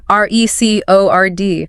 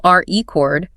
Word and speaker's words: record: The source uses that classic example, record versus record. Right, same spelling, R-E-C-O-R-D. But if you stress the first syllable R-E chord, it's a noun, a vinyl disc. I bought a new RE chord. But if you stress the second syllable record, it becomes a verb. I need to record this.